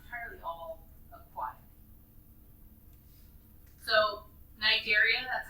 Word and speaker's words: Cnidaria: So Cnidaria, that's how we pronounce that.